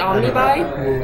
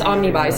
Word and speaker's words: omnibus: i saying that right is it omnibuy it's omnibus sorry i say words after reading them and it's wrong pronunciation omnibus and so this one is issues 15 to 30.